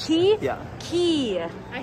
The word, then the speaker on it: Quay: It's pronounced Key? Yeah. Key. I said Quay. I always say, I know. I think their bio literally says not Quay. Our good friend Cole Misick has modeled for Key, although I don't see any pictures of him.